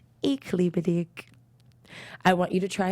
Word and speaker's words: Ich liebe dich: Well, it is pronounced Ich liebe dich. Ich liebe dich. Ich liebe dich.